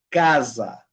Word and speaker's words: casa: Cuando la s, chicos, está en medio de dos vocales, ¿okay? Dos vocales, va a ser un sonido como de abeja. Z. Okay. Por ejemplo, casa.